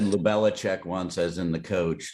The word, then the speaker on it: Lubelczyk: It's pronounced Lubelczyk, but everybody can call Oh, me because it's easier that way. awesome. Okay. I always say Lubelcyzk.